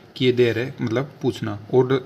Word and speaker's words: chiedere: और ले सकते हैं हम जैसे किधर है, CHIEDERE, किधर मतलब होता है पूछना, आस्क, टू आस्क, पूछना। तो वही देखिए CH है तो CH को क्या पढ़ेंगे, कै, और फिर I तो किए देर है मतलब पूछना।